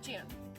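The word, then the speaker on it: jaune: like the month of june and to say yellow and french you pronounce it as jun so whenever you're trying to say in french just think of the month of june that's all campers have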